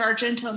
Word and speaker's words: Argento: the proper experience that our AR is it Argento is that how you say his name yeah yeah to create the experience that Argento must have wanted no I mean I I